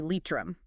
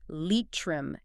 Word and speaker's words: Leitrim: The county is pronounced Leitrim in Ireland. Yes, Leitrim. It's vital to get that right.